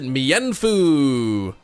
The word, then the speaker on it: Mienfoo: You pronounce it Mienfoo. That's the thing. Many Pokemon names are not English. Mienfoo for one.